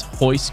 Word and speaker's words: Royce: but i believe in in portuguese you don't necessarily say the r right it's like genato is that that how you say it at least that's like how brazilians uh pronounce their names like royce gracie is hoist gracie type of thing jujutsu legend